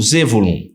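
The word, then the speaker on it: זבולון: nome de zol zulum primeiro vem a letra Zaim Olha a pronúncia a primeira letra tem a pronúncia de Z Zaim Depois tem o Bet Depois tem o vav Depois temos lamed Depois tem o vav novamente e finalmente o n que que significa isso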